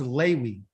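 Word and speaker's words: לוי: the third song yes his real name is called pronounced laywee because in Hebrew there is no letter v okay those no letter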